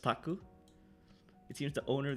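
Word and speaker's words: 宅: Wait, the kanji is of course pronounced taku.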